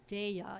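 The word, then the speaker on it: Daiya: three varieties of this new commercial cheese called dea it's spelled D A I Y A and it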